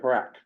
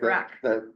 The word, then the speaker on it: HRAC: pronunciation is as a crow would say, Harak. Harac, Okay. okay. They make Harak.